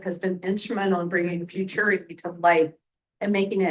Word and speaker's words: Futuriti: what is now futur futur. I never say it right. Rhymes with maturity.